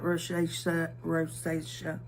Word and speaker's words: rosacea: Because you can tell I'm really like red, almost like rosacea. How do y'all pronounce that?